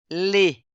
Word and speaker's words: les: Ó. Le, fermé. Le, les, pluriel, ouvert. Le, les.